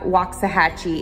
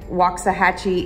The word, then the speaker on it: Waxahachie: kirkendall and then also waxahachie is another one there's some there's some really weird words here that like waxahachie is you know w-a-x but it's not pronounced that way so some funky words